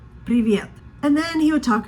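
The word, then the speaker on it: привет: Janna in Russian but he said it wrong it's privette that means hello in Russian but it's not private like pivot it's priviet and then he would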